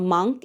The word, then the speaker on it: monk: A monk is a person who has devoted his life to spiritual pursuits. The saffron-robed monk was deeply immersed in meditation. Remember the trick. Drunk, monk.